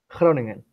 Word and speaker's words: Groningen: Is that I'm sure I'm pronouncing that wrong, but how do you Yeah. say the name of the city? Groningen.